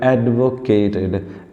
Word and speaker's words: advocate: Studies over the years have एडवोकेटेड, एडवोकेट मतलब होता है सपोर्ट करना। देखो दो वर्ड होते हैं, मैं बताऊंगा आपको, एक तो है एडवोकेट और दूसरा भी स्पेलिंग तो सेम है लेकिन इसको बोलेंगे एडवोकट।